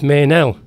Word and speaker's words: Meynell: I said, "It's Meynell." He says, "That's good. That's what I wanted to hear. It rhymes with hotel, So look at somebody else's name rhymes with hotel.